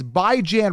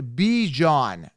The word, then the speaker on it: Bijan: you what's annoying me really badly okay it's by Jan Robinson now they're pronouncing it as B John Bijon Robinson okay and I'm gonna tell you why